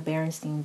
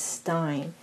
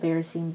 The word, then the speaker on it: Berenstain: called the berenstain bears which is spelt be EA RS Pai in as but people seem to remember it as Stein it typically seem like you know Einstein or Frankenstein or things of that nature or the barricade